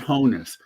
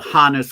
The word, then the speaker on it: Honus: So Johannes then being anglicized into Hannes, not Honus. Plus, right. The director of the Hannes Wagner Museum says that's how it's pronounced.